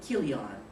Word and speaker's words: Chilion: supposed to be pronounced which means sickly and chilion which means and K kilon it's pronounced that way meaning Pion so and the